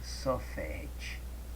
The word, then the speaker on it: sofit: Pronuncia-se sofet, né? Que quer dizer forma.